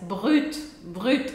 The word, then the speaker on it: Brut: Aliás, já aproveita para você também treinar a pronúncia. Brut.